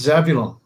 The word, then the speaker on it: Zebulon: There's a painting on Wikipedia by Francisco de Zurbaran of And it's pronounced Zebulon.